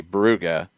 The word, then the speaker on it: Brugge: Most things I'm seeing of people from Belgium are going more in the Brugge or even Brugge, more of like a true German pronunciation as opposed to Bruges.